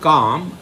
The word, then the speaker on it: calm: In English you use the word calm, but what is the spelling you write? C-A-L-M. The L is silent, you say.